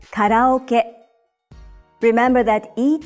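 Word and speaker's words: カラオケ: You would say karaoke, but in Japanese, you say karaoke.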